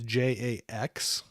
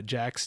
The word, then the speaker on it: Jax: So it's Jax. And I probably pronounce it not in a great way where it always sounds like Jack. But yeah, Jax, Jax. But I never care if somebody calls him Jack.